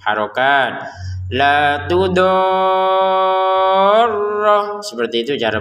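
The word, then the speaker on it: لَا تُضَارَّ: La tudorra, seperti itu cara bacanya ya. La tudor, panjangkan 6 harokat sempurna, baru tekan ro-nya karena di atas ro ada tasydid.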